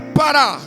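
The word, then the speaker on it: פרה: É a palavra pará. Você pode dizer pará ou pará, depende da tua maneira de pronunciá-la. Mas é pará. P-A-H-R-A-H.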